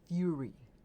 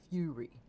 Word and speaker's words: fury: So, it's fury. Okay. Fury. Correct pronunciation. Fury.